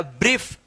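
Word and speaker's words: brief: इसको पढ़ा जाएगा ब्रीफ।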